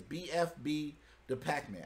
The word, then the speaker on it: BFB Da Packman: make sure i say it right right it's bfb the pac-man hey listen check this out it's your boy